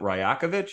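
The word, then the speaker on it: Rajaković: NBA head coach Darko is it rakovich is that how you say his name that's it yeah dark like that it's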